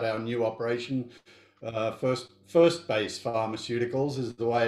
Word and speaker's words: 1Base: little bit about our new operation uh first first base pharmaceuticals is the way it's pronounced we're going to talk a little about